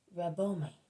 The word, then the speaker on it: Rabboni: so in the Gospel, but every time I hear Mary call him, she seems to be saying Rabboni with an M and not with an N.